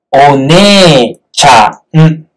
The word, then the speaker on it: お姉ちゃん: O ne cha, n. Aquí se escribe ne, e, pero se pronuncia ne, ne. Aquí, como si fuera un palito para sonido largo. De ne, sonido largo de ne.